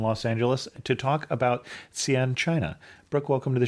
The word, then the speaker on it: Xi'an: to us from Los Angeles to talk about Xi'an, China. Brook, welcome to the show. Thanks for having me. I appreciate it. And just in case somebody doesn't know what we're talking about, can you put Xi'an on a map?